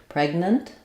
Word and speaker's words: pregnant: your two n sounds so I would rewrite that respell that as PR with an unreleased G pregnant almost like no vowel in the second syllable pregnant um she's very